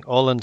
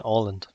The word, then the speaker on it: Åland: Åland and Åland. I think he still pronounced that as an O. Because that A with the circle above it is pronounced like an O as well.